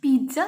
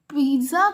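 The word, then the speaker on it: pizza: So that is पिज़्ज़ा slicer. और बहुत लोग पिज़्ज़ा को पिज्जा वगैरह बोलते हैं, तो पिज़्ज़ा को हम पिज़्ज़ा बोलते हैं, थोड़ा रुक के बोलते हैं।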